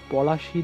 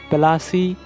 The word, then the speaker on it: পলাশী: একটি বিবাদ সৃষ্টি হয়েছিল ইংরেজরা এই যুদ্ধজয়ের পর তারা পলাশী যেহেতু উচ্চারণ করতে পারতো না সেজন্য তারা প্লাসি উচ্চারণ করতো পরবর্তীতে যখন দেশ স্বাধীন